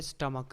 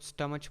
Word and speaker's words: stomach: stomach, अक्सर लोग इसे भी गलत प्रोनाउंस करते हैं, यह है स्टमक, अक्सर लोग स्टमच बोलते हैं और इस तरह से वगैरह, लेकिन ये है स्टमक, ठीक है।